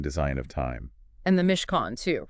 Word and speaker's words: Mishkan: of time and the Mishkan too, right? Which just so everyone knows is pronounced Mishkan, like con artist.